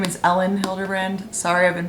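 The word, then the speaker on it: Elin Hilderbrand: romancey you guys told me her name is ellen hildebrand sorry i've been pronouncing it wrong this is the second in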